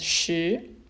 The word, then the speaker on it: 十: And it's pronounced as shi.